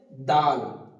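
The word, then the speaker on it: دال: তারপর আসছে দাল। দাল বলার সময় আমি বলেছিলাম এখান থেকে জিভের মাঝখান থেকে যে অক্ষরগুলো উচ্চারণ হবে ত, দাল, তা, জ, ডাল, সা, এই 6টি অক্ষর জিভের মাঝখান হতে উচ্চারিত হবে।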